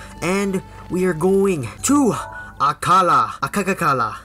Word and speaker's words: Akkala: zelda once again and we are going to akala akaka kala akala yes i'm not trying to make fun of it that's exactly how i pronounce it but last time we finished death